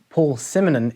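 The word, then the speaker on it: Paul Simonon: simmonen the basis from the clash since it's pronounced as paul simonen in the united kingdom perhaps that is the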